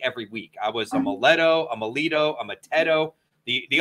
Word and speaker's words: Maletto: Am I pronouncing it right? Is it Maletto? It is Maletto.